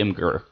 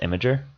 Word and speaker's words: Imgur: I say Imgur. Well, I hear it's actually pronounced Imager.